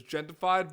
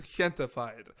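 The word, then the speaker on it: Gentefied: lot of people are referring to it as Gen 2 fide but technically it's gente fide so I'm getting excited spelt like pronouncing the J like an H so I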